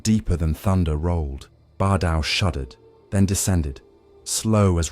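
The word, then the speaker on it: Baar Dau: Bar Dao, pronounced Bar Dao, the colossal moonlet suspended above Vivec City for centuries, had long been both miracle and warning.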